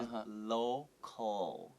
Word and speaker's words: local: 对，所以只是讲 tool，我们会想到这个在美国的这个文化。但是如果是在讲吃东西的时候，我就知道是要拿来吃东西的一个工具，但是可以用 utensil 来代替。Okay, and then local 这个字呢，it's a little bit hard for some people to say because there's 2 L's in this word。但是要怎么念呢？就是所有的 L 的字在英文的时候，你一定要舌头出来碰到哪个大门牙的中间，这样 local。然后后面这个 L 呢，它不会再碰到2个牙齿，可是它有个力量往外出，是 local 这样子。对，这是一个很难抓到，可是那个舌头要很灵活，像老师这样这么灵活。